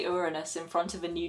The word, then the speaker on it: Uranus: say you know they would say it like your anus of course and these